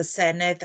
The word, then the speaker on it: Senedd: Marsden said about the Senedd and Senedd? Not everybody can pronounce the double D as a the, so it's a bit